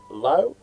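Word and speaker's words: Laux: big ruckman corey low lau zed is pronounced low mile fanning the school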